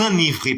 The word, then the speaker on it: enivrez: à l'infinitif bien entendu prononcer enivré donc arrêtez de répéter enivré puisque le E n'est pas accentué s'il vous plaît donc